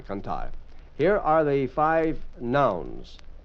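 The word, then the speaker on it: cantar: Canar is to sing. C a n t a r. Canar.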